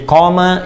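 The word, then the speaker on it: قام: Jadi qama yaqumu. Qama. Ingat, qama. Ya, bukan titik. Dan qama panjang bacanya. Qama.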